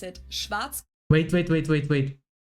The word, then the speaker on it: Schwarzkopf: In German, we pronounce it Schwarzkopf.